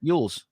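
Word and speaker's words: Elwes: Yules.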